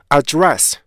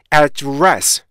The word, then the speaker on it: address: 그 다음에 이게 두 번째 음절에 강사가 있는 경우 동사로 쓰일 경우에 그죠? address 이런 경우가 있어요. 그죠? address 근데 원래 이거는 address 이렇게 발음하셔야 돼요. 그러니까 두 번째 모음에 강사가 있기 때문에요. address 발음은 절대 약화되지 않아요.